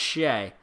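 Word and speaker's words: Skjei: 5:22 into the second, Brady Shea, which that's a weird one to spell too. S-K-J-E-I. Brady Shea. That's how you pronounce Shea. That's how you spell his Shea. S-K-J-E-I. Shea.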